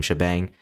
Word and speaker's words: shebang: Now you want to type in shebang bin bash. That's how you pronounce this thing by the way. This is a hashtag and this is a bang. So we call them shebang.